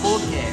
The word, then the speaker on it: pulque: Pulque. Pulque? Pulque. Oh, that's how you pronounce Yeah, it.